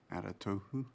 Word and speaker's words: Aratohu: Aratohu? Yeah. That is how his name is pronounced.